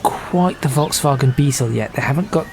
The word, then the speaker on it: Volkswagen: supposed to be pronounced, and not put too much of a British inflection on it. So I'm not going to say, oh, that's a Volkswagen, or something like that. It's a Volkswagen.